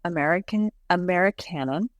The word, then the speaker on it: Americanon: Before we go, I want to talk briefly about your book, Americanon, which is spelled America, but with canon at the end.